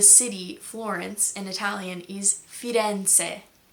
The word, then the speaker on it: Firenze: The name of the city Florence in Italian is Firenze. I was saying Firenze like with a very American Z.